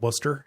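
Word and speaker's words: Wooster: yeah it's it's spelled it's spelled woster but we call it Worster yeah yep yeah what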